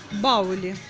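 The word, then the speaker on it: Bauli: Марка Баули. Правильно читается.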